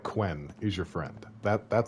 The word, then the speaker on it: Quen: should and also uh is it pronounced ken the one that looks like it's spelled like quen is your friend that